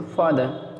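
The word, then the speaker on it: father: फादर, अंग्रेज लोग क्या कहते हैं, लास्ट में जो आर आता है जैसे ई आर, तो लास्ट में आने वाले आर को जो है, अंत में आने वाला आर को बोलते नहीं, उसके जगह केवल आ बोलते हैं, जैसे फादर, ठीक है, ई का आ बोलेंगे लेकिन आर नहीं बोलेंगे।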